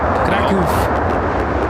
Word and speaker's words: Kraków: You said Krakow incorrectly. Kraków. Kagoof? Kraków. 2475, you come out of the I mean, that's how you say it in Polish.